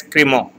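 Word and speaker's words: Crémant: It is pronounced as Cremant.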